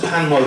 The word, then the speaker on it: PANWO: Hospital Porters Against the New World Order. Pronounced Panwo for short.